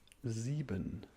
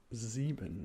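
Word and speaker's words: sieben: Z very good next up is seven equals zebon yes zebin yeah yeah that was good that was good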